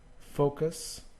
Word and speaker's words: focus: Focus, well, it's not focus, it's focus.